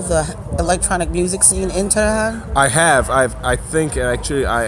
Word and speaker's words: Tehran: So when in Tehran, is that how I pronounce it?